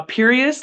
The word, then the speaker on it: Pierias: Uh my Instagram is uh Perious like serious.